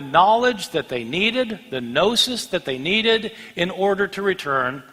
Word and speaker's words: gnosis: for knowledge is gnosis spelled with the g GN o s is gnosis means knowledge these people